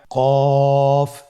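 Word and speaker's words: ق: আমরা যদি পার্থক্য করতে চাই ফা এবং কফের মধ্যে, কিভাবে বুঝবো? ফায়ের উপর এক নোক্তা এক ফোঁটা এবং কফের উপর দুইটি ফোঁটা। কফ উচ্চারণের ক্ষেত্রে একটু মোটা করে উচ্চারণ করতে হবে।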